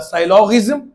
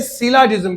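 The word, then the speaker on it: syllogism: कुछ लोग पढ़ाने वाले इसको पढ़ाते हैं साइलॉगिज्म। अरे भैया पहले प्रोनाउंसिएशन सीख लो फिर पढ़ाओ। इसे कहते हैं सिलाजिज्म।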